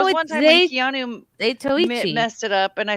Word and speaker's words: Zatoichi: Yeah, Well, it's The Tale of I've been Zatochi. saying Zato is cane sword this whole time. You- Such an idiot. You skipped a few letters, I Zatoichi.